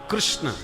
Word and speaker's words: कृष्ण: बोल सकता है और इनका नाम कृष्ण बोलने वाले की जीभ ही चक्कर खा जाए जल्दी से लोग शुद्ध उच्चारण नहीं कर पाते कृष्ण शब्द का पंजाब क्षेत्र में तो प्राय किशन बोलते किशन महाराज किशन चंद